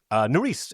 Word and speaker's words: Nerys: Nerys is how her name right, is yes.